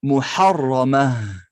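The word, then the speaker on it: محرمة: Donc quand on s'arrête, on ne prononce pas les voyelles courtes. Et si c'est un tamarbota, le T du féminin, on enlève également les deux points. Ce qui fait un petit H.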